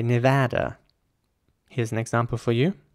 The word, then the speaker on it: Nevada: quite British sounding though so the British way would be Nevada but you know since this is a place in America I think it's you know it makes sense to say Nevada here's an example for